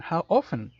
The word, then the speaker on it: often: How often? ¿Qué tan seguido? How often? Ojo con la pronunciación porque es un error muy común de pronunciación.